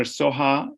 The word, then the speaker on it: Soha: Soha is S-O-H-A.